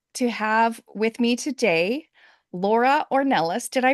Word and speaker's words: Laura Ornelas: I am thrilled to have with me today Laura or Nellis did I pronounce it right Laura yes okay okay good